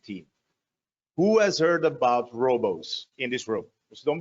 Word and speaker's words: Roboze: Development here at Robos before we start it's pronounced Robos I guess everybody was